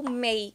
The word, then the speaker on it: may: primeiro é esse aqui o mei você pode lembrar que tem um mês do ano que também nós falamos mei certo mei E além disso